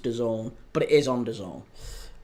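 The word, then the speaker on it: DAZN: People are saying that's pronounced Done, but it is on Done.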